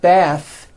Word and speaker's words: bath: smooth bath the word Beth is a noun with an unvoiced th Beth but when you change